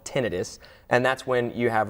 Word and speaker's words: tinnitus: called it's called tinnitus it's often called tinnitus but that's a slight mispronunciation so it's called tinnitus and that's when you